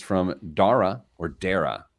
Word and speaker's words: Dara: It's from Dara or Dara. How do you think it's pronounced? D-A-R-A? Dara. Dara? Yeah. Dara. So like it's Sarah, Dara.